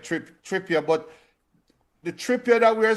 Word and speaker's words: Trippier: on come on you said it right trip trippa but the tripa that we're seeing now is